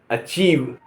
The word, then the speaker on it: achieve: ACHIEVE अचीव, अचीव माने प्राप्त करना।